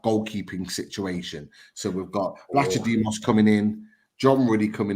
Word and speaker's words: Vlachodimos: Okay, Odyssey's Vlachodimos. You've been practicing. Yeah. I spoke to one of the Forest guys, and he pronounced it in a particular way, and it's Vlachodimos is the pronunciation.